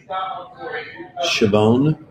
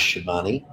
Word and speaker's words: Schiavone: So, yeah, my own surname is Chabon. If you lived in Rosetta, Pennsylvania, you lived in Virginia, it was Schiavone. You lived in Italy, it was Scavone or Schiavone.